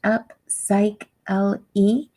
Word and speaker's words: Upsychelly: for worth of cycling that's pronounced up psych l e it sounds like I'm cycling without the engine all right so thank